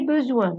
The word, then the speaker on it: besoin: J'ai besoin, j'ai, le verbe avoir. Besoin, besoin, يعني انا محتاج. Besoin, هنا نطقت الاس ز عشان جاية ما بين اثنين فوايل.